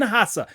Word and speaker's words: Haase: it's all fine okay the s is a zed cool that's good because